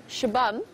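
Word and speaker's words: Xabam: And interestingly enough, Shabam, spelt with an X, in the local languages, the X sound is a sh sound.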